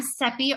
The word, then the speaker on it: Seppi: I'm Seppi, rhymes with Peppy.